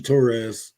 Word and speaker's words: Torres: And I wanted to ask you, besides your, I know that your opponent, Richie Torres, is that how I pronounce his last name?